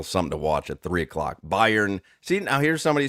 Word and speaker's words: Bayern: By Bayern. Byron. It's Bayern.